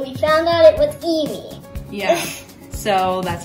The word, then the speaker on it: Eimmie: I thought it was Emmy, you thought it was Eimmie, we found out it was Eimmie.